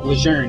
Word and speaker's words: Lejeune: I said it right. Lejeune, not Lejeune.